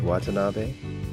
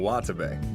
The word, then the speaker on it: Watabe: Right, Watanabe? You mean Watabe.